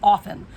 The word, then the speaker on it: often: Now everyone's pronouncing the T like they're some sort of semi-literate retards. Often. If I offended you because you pronounce often wrong, well, go fuck yourself. It's pronounced often.